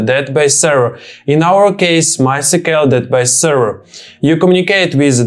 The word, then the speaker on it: MySQL: Just in case you didn't know, most people pronounce MySQL by spelling out the last three letters is as in MySQL.